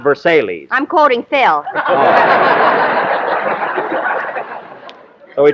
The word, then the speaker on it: Versailles: Versailles Mary that's for that's pronounced Versailles not Versailles I'm quoting Phil and